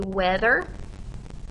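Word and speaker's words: wether: its reproductive parts is a weather and make sure you notice that correct spelling on weather okay it's w e t h e r okay our female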